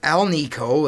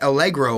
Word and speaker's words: Alnico: In my very old videos, I used to mispronounce the name of these magnets. These are Alnico. That's aluminum, nickel, and cobalt. That's the style of magnet we have here. Although I used to say Allegro, like the Zenith style of speakers.